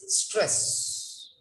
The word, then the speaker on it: stress: it's not is school it's not sess it's stress okay so where the word how it should be pronounced like that it must be pronounced conduct